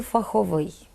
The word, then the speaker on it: фаховий: Вони відносяться до тих прикметників, які походять від іменників з односкладовою будовою. Тому такі прикметники мають наголос на закінченні. Порівняємо. Ліс – лісовий, лід – льодовий, сніг – сніговий, цех – цеховий. Отже, фах – фаховий, текст – текстовий.